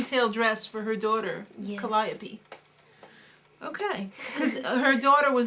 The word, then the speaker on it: Calliope: No, it's Calliope. Oh. The real name is Calliope, but I think she has the emphasis on the wrong syllable.